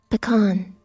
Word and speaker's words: pecan: Pecan. Okay, Google says pecan. Oh, it even tells me though. There's two different little pronunciation things here. Pecan or pecan. Okay. Interchangeable.